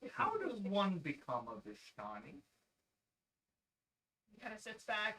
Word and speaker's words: Vistani: It's Vistani. Vistani. It's I thought it was Vishtani, but I know. I've heard it pronounced both ways.